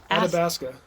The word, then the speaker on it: Athabasca: There's no D there. Athabasca. Where do you see a D? Where am I saying a D? Athabasca is what you're saying. ATHA would be Ada. Whatever. Athabasca.